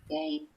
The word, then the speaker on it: Gein: Geen, or Gein, how do you pronounce that? Gein. Gain.